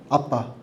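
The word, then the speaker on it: אבא: 아빠. 이게 그냥 진짜 우리말로 번역해서 아빠가 아니라 아람모 발음도 아빠예요.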